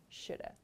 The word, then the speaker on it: should have: So as I explained, this pronunciation is the most common one, shoulda.